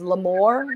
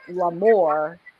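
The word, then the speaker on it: L'Armour: So I think while it is my name, L Armor, pronouncing it Lamore makes it different from me as a person.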